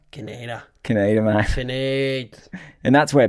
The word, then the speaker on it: Kaineder: I guess if you look at the origin of a word and it's from Austria. Austrian. So I guess you'd say it like Kaineder. Kaineder. But with the Aussie thing, it's just Kaineder.